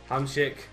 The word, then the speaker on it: Hamsik: Hamsik.